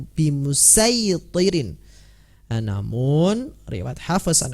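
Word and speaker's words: بمصيطر: Bacalah dengan huruf "sad", bukan "sin". Nah, seperti yang telah kami jelaskan sebelumnya, ada "asir" dan "musaytir," " bimusaytir."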